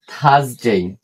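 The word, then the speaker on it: Thursday: ওয়েসডে Wednesday ওয়েসডে Wednesday তারপরে এটা থারসডে এখানে এখানে আর এর উচ্চারণ হবে না।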